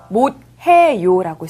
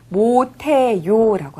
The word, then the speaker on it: 못해요: 그리고 못해요는 쓸 때는 못해요라고 쓰지만 발음할 때는 못해요라고 합니다. 못해요. Và một từ nữa ở